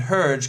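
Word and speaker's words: Hergé: Belgian George's Remy whose pen named herge comes from his initials inverted and pronounced in French first appeared in 1929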